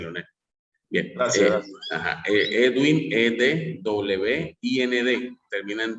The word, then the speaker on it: Edwind: Edwin Galvis. Edwin se escribe E-D-W-I-N-D. Edwin, ajá.